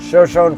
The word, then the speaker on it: Shoshone: to its marquee attraction, Shoshone Falls. And yes, that's how they pronounce that name here in Idaho.